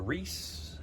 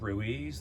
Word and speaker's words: Reese: light class i am professor reese and some pronounce that as ruiz that's fine but most people just